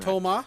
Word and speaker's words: Thomas: He's pronouncing Thomas. You can also pronounce it Toma. I was a lot younger. It depends on how you want to read it, because don't forget,